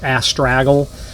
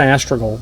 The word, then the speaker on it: astragal: in our industry often misspelled or misspoken or mispronounced asle um but it's an astral is what it is and the term in